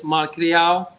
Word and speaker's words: malcriado: The name, the way you pronounce it is malcriado, but in English is misbehave.